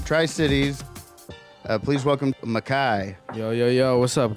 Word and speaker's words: Mekhi: that's your real first name that's how you spell it yeah Makai m e k h i hell yeah so